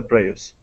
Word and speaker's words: Prius: In 2004, Toyota introduced a more powerful and roomier version of the Prius.